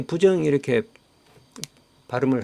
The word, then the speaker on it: 부정: 불자가 그 뒤에 디귿이 지어이 올 때는음 부로 발음한다 이렇게 돼 있습니다 그래서 부정이 된 것입니다 자 이제 이렇게 부정 이렇게 발음을 하니까 밑에 또 부정이라고 하는 단어가 있습니다 자